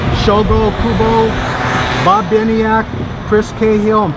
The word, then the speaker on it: Shogo Kubo: passed away in august of a heart attack shugo kobo i'm sorry if i misspelled uh mispronounced his name shogo kubo bob biniak chris cahill and paul cullen but